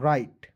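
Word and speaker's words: write: आर आई टीई तो डब्लू को cancel कर दीजिएगा क्योंकि डब्लू को हम लोग जो है साइलेंट करते हैं आर आई टी ई को पढ़ते दोस्तों राइट क्या हो जाएगा दोस्तो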